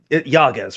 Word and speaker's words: Yagas: Do I have Yagas, right? That's how you pronounce it.